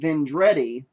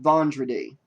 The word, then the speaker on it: Vendredi: But I said Vendredi instead of Vendredi. But Louis Vendredi is what I should have said, and I do apologize for saying Vendredi instead.